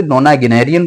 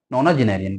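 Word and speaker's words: nonagenarian: ठीक है, नोना जिनेरियन पढ़ दो, नोना गिनेरियन पढ़ दो, लेकिन जो प्रोनाउंसिएशन है नोना जिनेरियन का होता है।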